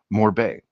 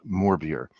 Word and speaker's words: Morbier: Um, I have heard it pronounced by cheesemongers in the San Fran San Francisco Bay area as Morbay.